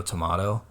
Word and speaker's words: tomato: that kind of stuff I didn't know who said tomahto I'm like no one in the world says tomahto it's the British people do it the British say tomahto did not did not